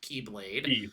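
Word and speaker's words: χ-blade: The X-Blade, which I think is still technically pronounced Keyblade.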